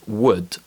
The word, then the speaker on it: would: in words like ball be careful the letter l doesn't always produce the sound and it's often silent when it's found in combination with letters m k f and o u d for example calm torque half and would let's go back to